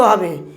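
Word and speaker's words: who: অর্থাৎ ইংরেজি শব্দের প্রথম লেটার ডাব দিয়ে শুরু হবে এবং ডাবর পাশে এইচও থাকতে পারে অথবা কোন কোন ক্ষেত্রে আরও থাকতে পারে এক্ষেত্রে কি হছে ডব সাইলেন্ট থাকবে ডব উচ্চারণ হবে না সেষেত্রে উচ্চারণটা কি হবে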